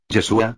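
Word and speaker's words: ישוע: que significa supuestamente salvación su pronunciación es en arameo yeshua aunque para muchos el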